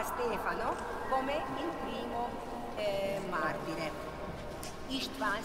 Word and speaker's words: István: István si pronuncia in ungherese.